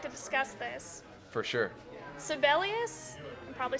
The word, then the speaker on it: Sibelius: Sibelius, I'm probably saying that wrong.